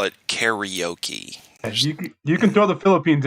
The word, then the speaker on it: karaoke: Only the Finnish people and Japanese people sing karaoke as a country or a population. I like that you pronounce it properly too, karaoke, because let me